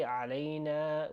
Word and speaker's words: alayna: So when we say alayna, we've got two A sounds here. Okay? We want to be specific with pronouncing na. Just drag it on a little bit longer.